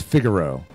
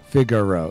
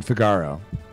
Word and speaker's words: Figaro: Oh, I'm pronouncing it wrong. It is Figaro. Figaro. Okay, yeah. I don't know why I'm saying Figaro.